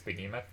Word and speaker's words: behemoth: to pick for uh behemoth batman as a kid i said bethem off and it's really hard to get out of my head but it's behemoth there are a bunch